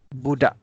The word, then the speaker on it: budak: We don't have the K sound at the end. We say budak.